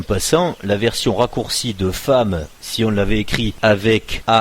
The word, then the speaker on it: femme: On dit pas une fême, c'est une femme.